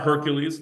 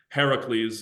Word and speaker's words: Heracles: It's not Hercules, that is his Roman pronunciation. Heracles is what we want to call him if we're using his Greek pronunciation.